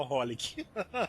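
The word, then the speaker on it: xxxHOLiC: É porque o Triple X, XXX não se pronuncia, as pessoas se falam só Holic.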